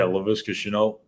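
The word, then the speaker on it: Laviska Shenault: How do you pronounce his name? Chenault? Yeah, Laviska Chenault.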